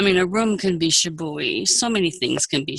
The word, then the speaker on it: shibui: Is that how you pronounce that? Yes, shibui.